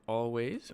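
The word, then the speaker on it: Alvvays: I saw the band always or all VES if you pronounce it like I do because it's spelled with two v's and uh it was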